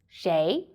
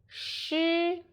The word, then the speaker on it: 谁: The word of today is Shéi. In this video, I will teach you how to pronounce it, how to write it, and how to use it. First, let's read together. Shéi, Shuí, Shéi.